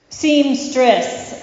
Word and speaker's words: seamstress: and there's a very, very difficult word to pronounce in there, in case you didn't catch it. Seamstress.